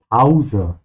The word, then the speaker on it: Pause: Make sure you pronounce it in German with an au sound. Pause.